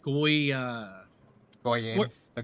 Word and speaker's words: goyim: And I can never pronounce the other one. It's like goy Goyim. what The Goyim.